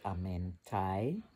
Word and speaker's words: Amenti: magic of the halls of the Amenti, that I understand is actually pronounced Amentai, which makes a lot of sense.